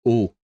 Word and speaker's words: eau: Water is just eau in French. We say de l'eau. Eau is the word itself. And you pronounce it just like O, but it's written E-A-U. Don't ask why.